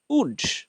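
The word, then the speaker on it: would: পড়বো শুড শুড will উড আবারো দেখো ডব্লিউ ও ইউ এল ডি এখানেও এই যে এল সে সাইলেন্ট থাকবে তাইলে উচ্চারণটা আমরা করবো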